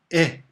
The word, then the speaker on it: へ: Sousaisen shutsuba e. Now the last figure there that looks like a little line that's bent up, that is but most of you learned he, but in this case it's pronounced e.